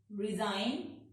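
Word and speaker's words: resign: अगर जी के बाद एन आता है तो जी साइलेंट हो जाता है। साइन, रिजाइन, डिजाइन, रेन।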